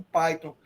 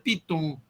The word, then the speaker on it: Python: Eu só sei que a pronúncia é Python porque vocês dizem. Senão eu ia dizer Python.